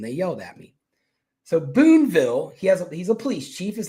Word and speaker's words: Boonville: But they have a town called Boonville, which in my video I called it Boonesville, and they yelled at me. So Boonville, he's a police chief.